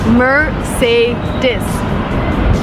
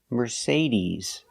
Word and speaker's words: Mercedes: Remember Mercedes. We do not say Mercedes. The last vowel is not I like milk. And this is it's the long e like green beans. We say Mercedes.